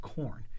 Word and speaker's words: Khorne: I believe it's pronounced Khorne. He crushes Khorne.